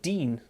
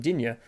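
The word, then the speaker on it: Digne: i don't is it is it it's like dean lucadine is how they pronounce it i always call him jinya um has proved himself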